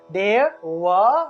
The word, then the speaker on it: দেব: দেওয়া না দেওয়া না কারণ এটা হলো অন্তস্থ অন্তস্থ ব এর উচ্চারণটা ওয় হিসেবে হয়ে থাকে অর্থাৎ ঠোঁট না লাগিয়ে ব উচ্চারণের মত অর্থাৎ ওয় তাহলে দেব দেবতা ভগবান এরকম উচ্চারণটা হয় তাহলে অব্যায়তা তাহলে আমি